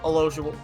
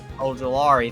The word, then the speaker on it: Ojulari: So I want to see Olojuwari or whatever the hell his name is. Ojulari, thank you. I can't pronounce it.